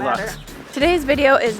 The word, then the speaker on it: Lux: luxurious i'm really excited i think they pronounce it luke's but luke's luck i'm gonna call it lux today's video is not